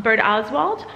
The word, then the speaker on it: Birdoswald: from here and so she says it's um bird ozwald or if you want